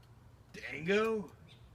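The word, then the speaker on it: Django: going and D Jango the Jay is silent Dango yes it wasn't the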